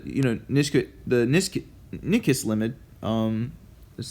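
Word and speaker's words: Nyquist: know nisk the nis nickest limit um this spell spelled like nickest the nicest limit um would technically be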